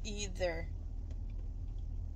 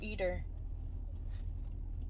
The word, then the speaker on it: either: You need to learn how to pronounce either. Not eater.